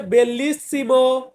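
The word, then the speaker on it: bellissimo: Italian ভাষাতে বলা হয় আমি বি দিয়ে হচ্ছে বেল্লিসিমো বেল্লিসিমো মানে হচ্ছে সুন্দর সুন্দর এটাকে আমরা বলবো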